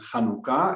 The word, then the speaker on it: Hanukkah: I can only tell you how we write it in Hebrew, and it should be pronounced as Hanukkah.